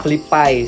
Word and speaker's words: FlyPay: Flipai sebenarnya. Flipai. Karena Kalau Flipai berarti FLI dong. FLY tapi dibacanya Fli kan. Kalau di kita Fli dong, bukan Fli kan.